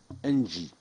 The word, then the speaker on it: ENGIE: Je vais donner donc la parole à monsieur Léon Duvivier, directeur technologie à la direction recherche et technologie ENGIE. J'ai bien prononcé ENGIE ? Très bien, monsieur le sénateur.